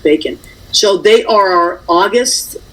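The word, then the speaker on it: Bekin: how cute he is it's spelled a b-e-k-i-n but it's pronounced bacon so they are our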